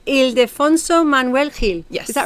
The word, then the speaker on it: Ildefonso Manuel Gil: Let me see if I pronounce it right. Ildefonso Manuel Gil.